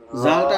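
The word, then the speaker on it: ذال: জিম জিম জি জালটা নরম হবে জালটা নরম হবে জাল নরম আওয়াজ জিহ্বার আগা উপরের দুই হাতের আগার সাথে লাগবে এরকম জা জাল হ্যাঁ জা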